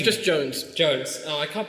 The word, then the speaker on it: Jonze: It's just Jones. Jones. Oh, I can't pronounce it.